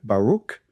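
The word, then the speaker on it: Baruch: And Malay, son of Baruk. Again, there's no ch. It's a C. Baruk like in the word lock or echo.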